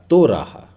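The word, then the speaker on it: תורה: ताव, वाव के ऊपर एक बिंदु है, मतलब ओ की मात्रा, मतलब बन गया तो। रेश के नीचे आ की मात्रा रा और ह हे, तो इसका उच्चारण हो जाएगा तो रहा।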